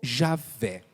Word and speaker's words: Javé: do senhor em vão a pronúncia mais usual mais conhecida dessa palavra é jeová ou e a fé ou Javé são as pronúncias mais conhecidas que podem ser utilizadas para